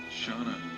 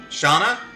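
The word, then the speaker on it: Shana: It's either Shauna or Shaina. Dom, you still there? Yes, it's S H A N A. Shauna. Shauna. Okay, that's what I thought. That's how I've usually pronounced it.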